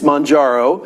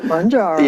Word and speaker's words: Mounjaro: Yeah, it's Mounjaro. Mounjaro.